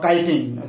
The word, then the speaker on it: chitin: that cell wall is made of citing or citing we can say citing or kiting sometimes we spell it